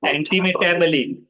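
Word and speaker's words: antimetabole: एंटीम, ये anti, anti पहले पढ़ना है, फिर मेटा, एंटी मेटाबली।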